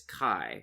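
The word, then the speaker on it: Kae: a note of it in my head it's kai okay anyway um the the summary does not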